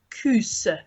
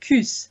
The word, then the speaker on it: kos: it's lovely yeah so you spell it Kos but it's sort of like coos I think that's how you pronounce it coos like that so it's